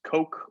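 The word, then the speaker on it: Coq: in a dependently typed language called cook it's french you'll often see it pronounced coke or you'll see it pronounced by americans it means rooster so it's implemented and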